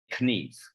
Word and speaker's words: kniv: And in Swedish, you actually say kniv. You pronounce the K.